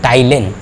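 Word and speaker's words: ptyalin: टाइलिन। टाइलिन लिखा रहता है, पी साइलेंट रहता है, उसको टाइलिन के नाम से भी जानते हैं।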